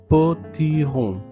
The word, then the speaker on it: potirons: Ce sont des potirons. Sans prononcer le S à la fin.